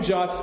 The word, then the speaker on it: JWT: so what do you jots actually do by the way the common way to pronounce is this job's not JWT so what do